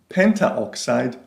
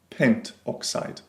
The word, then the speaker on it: pentoxide: Note that in order to avoid awkward pronunciations, we often drop the final A or O of the prefix. So rather than having pentaoxide, we have just pentoxide.